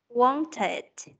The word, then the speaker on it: wanted: Tụi con thấy chữ want tận cùng là t, thì khi đó tụi con mới đọc là it. Wanted. Wanted. À, còn nếu như tận cùng là cùng là T hoặc là D thì tụi con sẽ đọc là it.